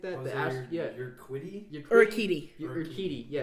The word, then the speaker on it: Urquidy: One of my favorite players on his team is, I have no idea how to pronounce it, but Urquidy or something like that. You're Quiddy? Urquidy. Urquidy. Yeah, Urquidy.